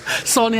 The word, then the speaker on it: Sahni: Sahni as in sandwich. As in sandwich, yeah.